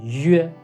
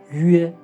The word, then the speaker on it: yue: And it becomes "yue". "yue". "yue". For "yue", we can ignore the "y" and not pronounce it.